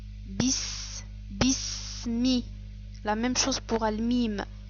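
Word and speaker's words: بِسْمِ: On ne prononce pas le son E, mais on prononce Bi. Bi. Le son I. Bis. Bismi.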